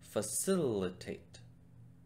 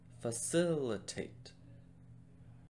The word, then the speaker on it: facilitate: four syllables facilitate now where do you think the stress goes in this word if you said the second syllable you're right it goes over sul so the full pronunciation would be facilitate facilitate okay now let's try